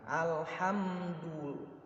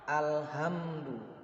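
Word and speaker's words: الحمد لله: Gimana cara baca? Harus di tengah tenggorokan. Alhamdulillah, bukan alhamdu.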